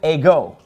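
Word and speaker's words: ἐγώ: Now, the word ego, it gets the accent on the second syllable. See, that accent is over the omega.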